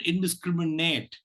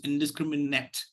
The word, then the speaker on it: indiscriminate: word it is not indiscriminate it is indiscriminate so the last syllable is not stressed it has a weak